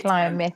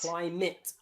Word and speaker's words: climate: UK, private will be pronounced with a short I. I. So you'll see the A here is I. Private. Private. Climate. And climate. Climate. Legitimate. Okay. Many other accents change these sounds to a schwa. So they'll say climate and private.